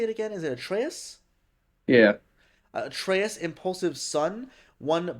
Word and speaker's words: Atreus: Is it Atreus?